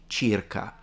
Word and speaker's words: circa: this word about so in Italian it would be chirka but what I find interesting he's saying it like at Circa and this is something